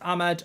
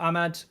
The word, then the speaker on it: Amad: there uh hi Mark ahman's name is pronounced Ahmed or Ahmad thanks amk if I